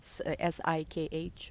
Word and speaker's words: Sikh: I have a great friend in Bali who is a Sikh healer, Sikh, right? That's how you say it, who wears turban, and he's a great healer.